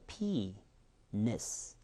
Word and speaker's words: penis: penis. 앞에가 셉니다. 강세 때문에 penis. 이런 발음 같은 경우를 제가 해드리는 이유는요.